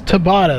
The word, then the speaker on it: Tabata: We did get the pronunciation on that. It is Tabata. That is how you pronounce that.